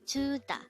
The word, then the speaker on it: 주다: JUDA. This is composed of two syllables. The first syllable is ju, second syllable is da.